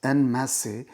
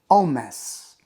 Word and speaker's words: en masse: The word that is given there is normally pronounced as en masse, but the French pronunciation is en masse, en masse, to the People's Alliance Party.